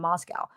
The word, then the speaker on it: Moscow: Idaho College Town in Moscow pronounced not like the Russian Capital but to rhyme with Costco the locals with no